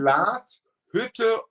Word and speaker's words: Glashütte: And can you also pronounce Glashütte? Original? Glas Hütte Original.